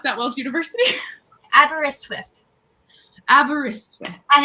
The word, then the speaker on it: Aberystwyth: Tell me how to pronounce that Welsh university. Aberystwyth.